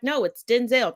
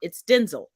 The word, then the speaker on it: Denzel: all the time that they pronounce his name incorrectly they're like no it's Denzel no it's not it's Denzel just like it's not